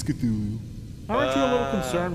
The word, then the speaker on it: Cthulhu: It's Cthulhu.